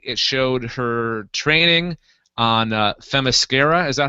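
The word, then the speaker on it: Themyscira: dialogue and basically it showed her training on fasara is that how you pronounce it Brad yes it is H them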